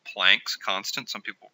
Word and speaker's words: Planck: It's called Planck's constant. Some people pronounce it Planck.